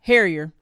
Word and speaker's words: Harrier: Um and then uh Laura Harrier Harrier Harrier I like her. I mispronounced her name.